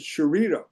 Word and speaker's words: Chiarito: of says, "Well, Professor, my family pronounces it differently." He says, he said, "I think you grew up with my father." I go, "Your father?" He goes, "Well, we pronounce it Chirito."